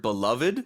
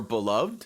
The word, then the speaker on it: beloved: can pronounce this word beloved or beloved both are okay you hear them both um a lot of times when I hear it if it comes right before the noun people will say beloved like uh my beloved